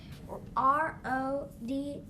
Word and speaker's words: Rodney: My name has the Y in it, and it steals the E cape. R-O-D-N-E-Y. So how do you say your name? Rodney. And what do you hear at the end? E. The E sound.